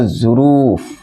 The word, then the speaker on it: ظروف: لکھا ہوا ہے ظروف۔ یہ جو اس کا تلفظ ہے دوستو، یہ ہے ظروف، یہ تلفظ ہے۔ یہ ظرفن کی جمع